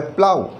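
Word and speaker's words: plough: और जो next example है वो है प्लाउ। प्लाउ का मतलब है हल चलाना। फार्मर्स प्लाउ देयर फील्ड्स, किसान अपने खेत में हल चलाते हैं। तो OUGH का प्रोनाउंसिएशन आप देख पा रहे हैं वो है आओ।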